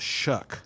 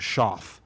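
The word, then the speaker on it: Shough: his name, you would you would just assume that it's pronounced sha. But it's pronounced shuck.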